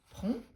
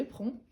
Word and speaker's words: prends: Par exemple, je prends, je prends. Par exemple ici, on ne prononce pas le DS.